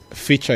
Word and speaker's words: Ficha: are not necessarily Kenyans feature is spelled in the way that it sounds f i c h